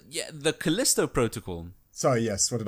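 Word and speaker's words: Callisto: You got Costello Protocol, which I don't actually remember the music for that. Can you? Was that correct? Yeah, the Kalisto Protocol.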